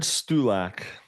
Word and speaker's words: Stulak: How do you pronounce your last name if you don't mind me asking? Stulak.